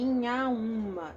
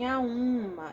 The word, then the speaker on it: Inhaúma: falo oh oh também eu nas a liso em Inhaúma em Inhaúma Eu não falo e minha u.ma falei minha uma nasalizado tá então como a